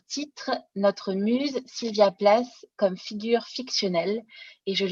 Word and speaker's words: Plath: vous parler de sylvia place alors place ou plate on a un choix de prononciation selon que l'on prononce à l'américaine ou à l'allemand de places qui tend